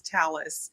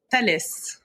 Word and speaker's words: Thales: Well, well, this is one of many conversations that we've had, but it's talis. Talis or the way that Yeah, the way that the French people pronounce it is uh tales.